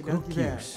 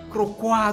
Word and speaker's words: Cruquius: Kroeghuis. Terima kasih. Oh namanya ini bukan Krokwa atau Krokwa, ini Kroeghuis.